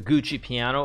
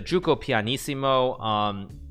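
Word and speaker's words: Giuoco Pianissimo: Since there are a lot of chess fans, I will say it pronounced correctly, and there probably are also a lot of Italians. This, of course, is the Gioco pianissimo.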